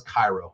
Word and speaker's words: Cairo: it's a corn syrup they're like no it's Carol I know it's Cairo I'm sorry it's Cairo whether you want it or not it's don't put pyramids on your sign and expect me to pronounce it any other way people so you actually